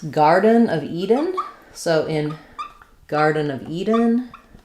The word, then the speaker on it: Eden: Eden actually is stressed on the first syllable, so letter E does say E. Eden, and almost no vowel for both garden and Eden.